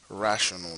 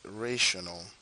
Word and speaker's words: rational: And just as a side note, people normally call this a rational number. The real pronunciation is rational because it comes from the fact that it is a ratio.